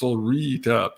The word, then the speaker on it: Solreta: Somebody was saying earlier, JC, Solreta is pronounced Solrita. I know. I say the French way.